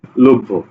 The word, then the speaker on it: লভ্য: লভ্য, বোঝা গেছে না যায় নাই? তাহলে শব্দের মাঝে এবং শেষে যদি জফলা থাকে বা যেই ফলাই থাকুক না কেন, দ্বিত্ব উচ্চারণ করবে, ঠিক আছে।